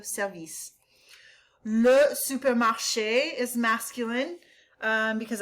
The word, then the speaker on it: service: Emphasis on the second syllable with service, okay? So it's la station de service.